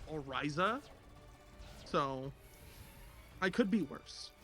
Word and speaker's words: Orisa: me see you said you said Arisa and and I thought you mispronounced orisa from OverWatch and I'm like that's